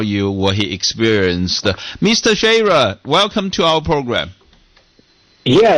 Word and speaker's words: Schaerer: So just like the word share, like if you're sharing something, add an ER to that, and it's Schaerer.